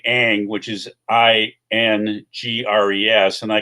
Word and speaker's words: Ingres: So when you look at people like, I'm going to say Ang, which is Ingres, and I can tell you 8 different ways that I've been told and how to pronounce that.